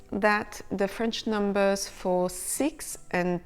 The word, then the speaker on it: six: Il y en a 6, there are 6 of them, ou il y en a 10, there are 10 of them. When it's followed by a vowel, the final X is pronounced Z. 6 amis, 6 friends.